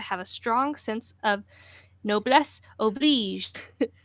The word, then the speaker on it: Noblesse oblige: Noblesse oblige.